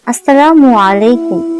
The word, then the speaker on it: আসসালামু আলাইকুম: আর সালামের সঠিক উচ্চারণ হলো আসসালামু আলাইকুম।